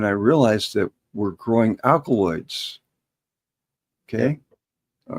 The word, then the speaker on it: alkaloid: And then I realized that we're growing alkaloids. Okay. All right. And alkaloid actually rhymes with alkaline, or it's part of alkaline.